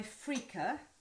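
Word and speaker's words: freekeh: that's cooking so i'm going to add my frica except that it's not freaker it's spelt to this so shove that in there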